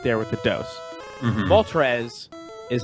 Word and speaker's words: Moltres: spend a lot of time thinking about Articuno, Moltres, and Zapdos. Well, Yeah. they don't, especially Articuno. It doesn't wear that number on Front Street. Yeah, especially because, like, Zapdos, really out there with the dose. Mhm. Moltres is how I pronounce Moltres, and Trez is